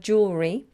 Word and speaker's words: jewelry: you pronounce the word jewelry jewelry and jewels jewels you have to get the L in their jewelry and jewels I actually did a